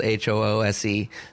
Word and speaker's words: Hoose: And then Dunlop, I was playing in this place, the Old Hoose Pub, and and the house is literally spelled Hoose. So I love trying to pronounce it that way, Hoose.